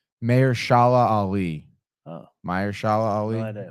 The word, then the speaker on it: Mahershala Ali: By the way, it's Mahershala Ali.